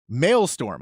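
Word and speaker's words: maelstrom: she goes out okay hear me out mail storm I believe that's how you pronounce it m-a-e-l-s-t-o-r-mailstorm is what I'm gonna go with a violent Whirlpool that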